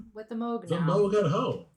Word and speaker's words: Moog: I Moog, think. you think? Yeah. Moog, because it's mood indigo, so it's mood.